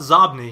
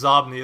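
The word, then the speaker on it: Xobni: What about Zobni? You use that as well, right? And I don't know if I'm pronouncing that right. I'm assuming it's Zobni. It's spelled with an X-O-B-N-I. Yeah, I think it's Zobni.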